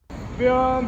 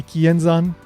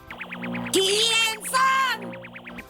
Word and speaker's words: Kienzan: Every single one of these clips makes the same exact mistake, and that mistake is that they're pronouncing the z sound in zan as san, like an s sound.